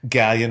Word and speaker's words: Galyean: I swear to God, like he's gonna go on Grindr and he's gonna change his name to Galyean rhymes with Stallion.